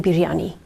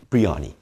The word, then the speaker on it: biryani: That's the Western way of saying it. Okay, how do you say it? It's not biryani, it's biryani. Biryani. Yes. Oh, you got to do that. Yes. You've got to roll the R.